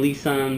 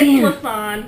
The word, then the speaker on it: Lisan: So joining me now is Milwaukee comedian Lisan. Hello. Did I say it right? No. It's Lisan.